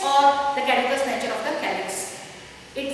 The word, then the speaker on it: caducous: Pronounce properly. It is caducous or fugacious.